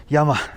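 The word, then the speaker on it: llama: दो अल्पका की और दो लामा की। यामा लामा क्योंकि स्पेनिश के अंदर एल साइलेंट होता है। एल हो जाता है या।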